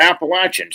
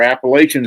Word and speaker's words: Appalachians: And the Appalachians or Appalachians, however you want to pronounce it, uh the eastern spine